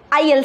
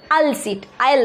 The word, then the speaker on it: aisle: है उसे बोलते हैं आईएल सीट. ओके, उसका स्पेलिंग है AISLE, उसको ISL नहीं बोलेंगे, उसका जो प्रोनाउंसिएशन है वो है आईएल सीट.